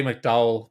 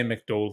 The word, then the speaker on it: McDowell: and graham mcdowell uh say mcdo i say mcdowell because that's the way he tends to pronounce it now with his american twang that he's put on his northern irish accent i say mcdole if you're from northern ireland you say mcdonald it's it's graham mcdole to me not great